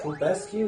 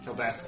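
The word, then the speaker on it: Kelbesque: So I was going to say, Kulbescu, is that his name? Kilbesk is how I pronounce it.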